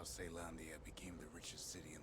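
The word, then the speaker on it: Caelondia: hammer it's it's pronounced it's weird because it's pronounced seylandia so technically it should be sail hammer unless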